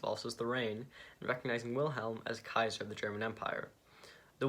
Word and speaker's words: Caesar: Fun fact, Kaiser is the correct pronunciation of the Roman word Caesar, simply meaning emperor.